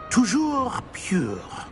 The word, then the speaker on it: Toujours pure: I order you to pronounce it for me. Oh, Master knows that Scrope's French is most pitiful. Very well. Toujours pure.